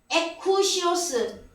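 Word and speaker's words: ἑκουσίως: 에쿠시오스. 우리나라 자동차 뭐 에쿠스가 있죠. 좀 발음이 비슷해요.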